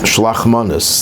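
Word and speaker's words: Shalach Manos: fulfill on the day of Purim is called Shlach Manos. That's the Yiddish pronunciation.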